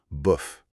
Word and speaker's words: bof: Ce petit mot de trois lettres, écoutez bien la prononciation et essayez de la reproduire. Bof.